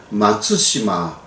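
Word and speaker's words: 松島: 그리고 손도라고 이야기를 했습니다이 손도라는 이름은요 사실 일본 쪽에서 사용했던 한자를 한국식으로 이르는 그러한 발음이었습니다 손도라는 곳은요 일본 팔음으로는 마츠시마라고 발음하는데요 일본 사람들은 17세기에 독도를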